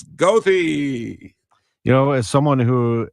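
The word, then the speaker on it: Goethe: you know and and for the German students who see g o e t h e it is not Gera it's GOI you know as someone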